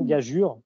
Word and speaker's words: gageure: Et en fait, on retrouve ça dans gageure, ceux qui connaissent, donc gageur, gageure. Donc c'est écrit EU, c'est censé se prononcer U.